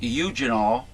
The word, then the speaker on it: eugenol: product i believe it's called uh well it's pronounced eugenol it's you it was used by that guy